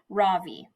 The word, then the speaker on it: Ravi: first name is ravi it's pronounced ra vi with a soft raw and a strong v ra v in sanskrit it means the sun in america people call me ravi with the stress on the first syllable that doesn't